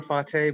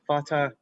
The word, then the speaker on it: Fateh: Both work, but Senator Fateh, but Fatah is the Somali way of saying it, so both work.